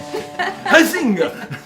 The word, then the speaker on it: Huizinga: Took me like 10 years, maybe a whole decade to learn how to say her name. And I used to have to pretend like I was sneezing when I said it.